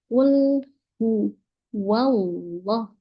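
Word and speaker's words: قُلْ هُوَ اللَّهُ: Jadi gimana yang benar pengucapannya? Kul hu wallah, wallah. Jadi pastikan ketika bilang wa-nya juga wa fathah, bukan wa yang cenderung ke o.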